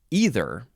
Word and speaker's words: either: Next is either. E-I-T-H-E-R. Some people like to say either. Either one is fine.